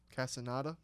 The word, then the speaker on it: Castaneda: Castaneda. Is that how you say it? Yeah. Castaneda.